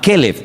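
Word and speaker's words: כֶּלֶב: Para diferenciar el nombre del perro se pronuncia diferente, pero se escribe igual.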